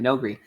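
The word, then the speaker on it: Noghri: The Nogri.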